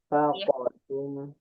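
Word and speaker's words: أنفقتم: dari Qul ma anfaqtum min Faqo. Ada qalqalahnya. Faqotum.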